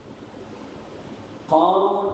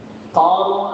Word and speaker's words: காரூன்: மனிதனை பற்றி அல்லாஹ் சொல்றான் ஹாரூன் அப்படின்னா மூஸா அலைஹிஸ்ஸலாத்துடைய சகோதரர் அவங்க நபி ஹாரூன் இந்த ஹே உச்சரிப்புல வந்தா அவங்க வந்து என்ன நபி காரூன் அப்படின்னு இந்த காஃபினை உச்சரிப்புல வந்தா அவன் வந்து மூஸா அலைஹிஸ்ஸலாம் காலத்தில் வாழ்ந்த ஒரு எதிரி இவன் மூஸா அலைஹிஸ்ஸலாத்துக்கு பெரிய